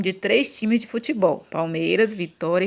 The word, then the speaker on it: Palmeiras: pelo time do Palmeiras uma dessas sílabas é pronunciada com mais força você demora mais falando ela ó o Palmeiras então aqui o mei eu demorei mais falando então vai ser essa daqui assim ba tônica ou seja